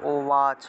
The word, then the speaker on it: উবাচ: উবাচের উচ্চারণটা ও ওয়াচ উচ্চারণ হবে, ওয়াচ। ভগবান, এই যে ভগবান আছে না, এটা ওয়ান উচ্চারণ, এইভাবে ভগবান।